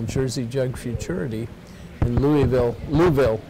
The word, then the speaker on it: Louisville: jug Futurity in Louisville Louisville Kentucky Louisville say it like you have a bunch of rocks in your mouth Louisville and many other